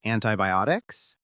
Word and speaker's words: antibiotics: thermometer and antibiotics. Antibiotics. Stress on the OT part.